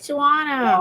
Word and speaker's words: Shawana: Yes, that's how you say it, Shawana.